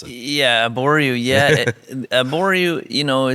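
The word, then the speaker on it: Abouriou: It seems like you have maybe the only stand out there of Arboreaux, if that's the way you pronounce it. Yeah, Arboreaux.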